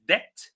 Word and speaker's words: debt: The second word is debt. The third word is island, island. The S is silent.